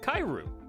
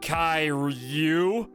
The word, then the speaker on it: Kairu: pocket uh geo converted kairu i'm sorry it's uh it's pronounced kai ryu kai review was convinced